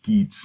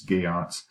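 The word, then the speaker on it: Geats: clan whatever you want to refer to that gay aughts it looks like it's pronounced Yeats but it's gay Ott's and of a hero Bale obviously who seeks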